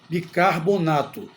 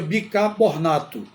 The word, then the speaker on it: bicarbonato: Esta é a pronúncia correta, bicarbonato. E muita gente pronuncia de outra forma, pronuncia bicarbonato.